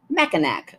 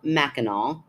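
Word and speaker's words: Mackinac: macol AC is yeah it turns into an a at the end for some weird reason because our language is bizarre the island is called maol Island Wikipedia L gear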